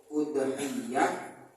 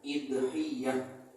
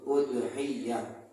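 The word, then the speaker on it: أضحية: boleh mengkasrahkan huruf hamzah Jadi bacanya ada yang udhiyah ada lagi yang bacanya idhiyah bacanya ada dua cuman di antara dua bacaan itu yang paling masyhur adalah domah hamzahnya maka menjadi udhiyah Apa itu udhiah wahiya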